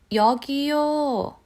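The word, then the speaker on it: 여기요: korean yogi okay and another way to call the a waiter with waitress is yogyou over here yogiyo okay so when i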